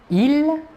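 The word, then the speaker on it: ils: Tout d'abord, le masculin, il, la S finale ne se prononce pas.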